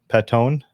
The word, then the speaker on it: Patoine: There's no R, so it'll be Patoine.